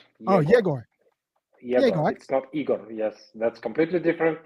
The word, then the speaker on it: Egor: how you pronounce my name okay uh you pronounce my name irony irony irony my name is jagor oh jagoy yes that's completely different name of the completely